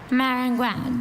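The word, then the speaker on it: maringouin: Marangouin. Does this word have any alternate pronunciations?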